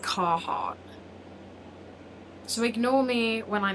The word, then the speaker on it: Carhartt: I call it Carahart, but I'm pretty sure when I look at it, it's actually just Carhartt.